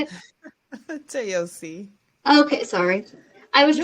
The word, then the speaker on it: Toyosi: Was it Toyisha? Is that how you say it? Toyosi.